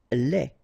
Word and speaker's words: lait: Lait. Un lait. Okay, so the only difference is final thing here, D, you don't pronounce it, T, you don't pronounce it, so phonetically you only have this lait.